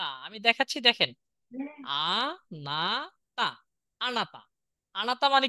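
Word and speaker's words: あなた: আমরা নিচে দেখি উচ্চারণ লিখি, এটা আ, তাই না? এটা না, না, এটা তা। আমি দেখাচ্ছি, দেখেন, আ না তা, আনাতা।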